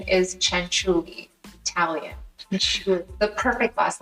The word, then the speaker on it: Cianciulli: you so much for having me and the pronunciation is Chuli Italian CH the perfect last name forer exactly